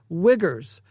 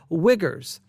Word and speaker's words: Uighurs: The name is spelled Uighurs, Uighurs, but it is pronounced Uighurs. If you were pronouncing it, you would give it a W sound, Uighurs.